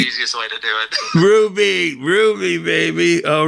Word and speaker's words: Hruby: So, Hruby, the H is silent. It's the easiest way to do it. Hruby, baby.